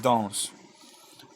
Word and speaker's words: dansent: On ne va pas prononcer le ENT. Ce n'est pas ils dansent. Non, non, non, non, non, non, non, c'est ils dansent.